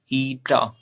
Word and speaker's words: Eta: ईटा what is the pronunciation? Eta. Eta is a Greek word.